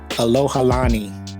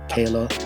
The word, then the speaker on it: Alohalani: Oh, and it's a Alohalani. That's how you say it. I was sitting there staring at it like Kayla.